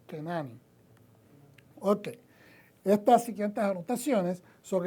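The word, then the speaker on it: כנעני: sometido eh etcétera y la pronunciación para una persona que proviene de Canán el cananeo en hebreo se dice kenani Okay estas siguientes anotaciones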